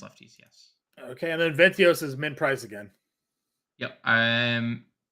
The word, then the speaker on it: Vientos: Okay, and then Ventios is min price again. Yep. I'm only because of salary, not because of the matchup. Is it, how do you say it? Ventios? Vientos? Vientos.